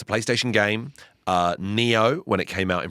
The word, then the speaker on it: Nioh: No relation to Neopets. It's spelled Nioh. Uh it's a PlayStation game. Uh, Neo when it came out